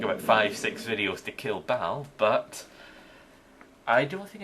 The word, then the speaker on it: Baal: Worst comes to worst, I can always use Fisher on Baal, or Bale. I think the pronunciation's meant to be Bale.